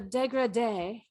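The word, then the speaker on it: dégradé: The one that the Degrede with a little accent on the E.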